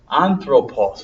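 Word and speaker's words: ἄνθρωπος: word anthropos human being anthropause I wrote it before but I'll write it again Omega long o anthropulse which means a human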